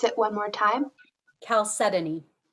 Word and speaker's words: chalcedony: a part of speech it's a common noun chalcedony am i pronouncing it correctly yes okay can you please pronounce it one more time chalcedony c h a l c e d o